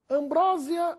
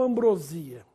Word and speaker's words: ambrosia: o aumentativo de acordo Ambrósia ou ambrosia Essa é a pronúncia correta ambrosia é ambrosia do doce do alimento dos deuses gregos ambrosia nada de Ambrósia ambrosia só se for